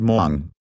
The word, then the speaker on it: Hmong: at the same time hardly anyone knew how to pronounce the word Mong hardly anyone except the